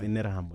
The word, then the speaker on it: Interahamwe: It's pronounced Interahamwe. No, I've heard it being pronounced in Terra. Interahamwe.